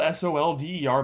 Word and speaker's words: solder: And it is spelled S-O-L-D-E-R, but it's pronounced solder, at least here in the States. You think it'd be pronounced solder, you can go figure.